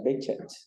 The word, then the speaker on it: Behçet: Aqui é o LUZ-BC, que em turco o correto é pronunciar Behçet.